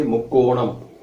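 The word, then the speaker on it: முக்கோணம்: In Tamil we say mukkonam.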